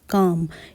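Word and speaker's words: calm: है शांत या चुपचाप तो इसे कैसे प्रोनाउंस करेंगे सी ए एल एम काम एल यहां पर साइलेंट है तो इसके लिए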